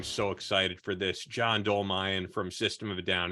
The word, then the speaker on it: Dolmayan: man I am so excited for this John dolmine from System of a Down and I should have asked you for I'm pronouncing it right right you got it awesome